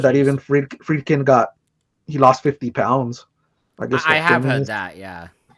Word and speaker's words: Friedkin: Yeah, Friedkin.